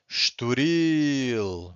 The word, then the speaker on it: Estoril: ends with an L, if the word ends with an L, you have to stress the final syllable, okay? Universal or individual. This one also ends with an L, so we stress the final syllable. Or estoril, right?